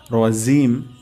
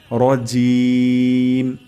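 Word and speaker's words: الرجيم: হয়ে যেতে পারে তাহলে এখানে আমরা র মোটা করে উচ্চারণ করব মিনাশ শাইতানির জিম আমাদের এখানে র জিম জিম হওয়া যেতে পারে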